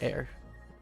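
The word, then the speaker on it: eyre: pull in Ira color IRA uh air that's how you're supposed to pronounce it air um color air um cool we're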